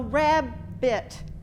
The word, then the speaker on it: rabbit: you go all right so RAB bit we have r a b and then the second syllable is b t and both of those have a vowel inside that are what we were calling short sound rabid uh rabbit I'm sorry rabbit those are the two syllables in that word so it has to